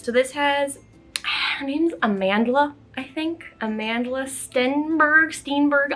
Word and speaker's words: Amandla: name i'm so sorry it's like amanda but with an l in it i think it's a mandala but i don't want to